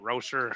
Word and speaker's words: Rosser: I don't know how to say it. Rosser. I've heard you guys say it correctly. Yeah, Rosser.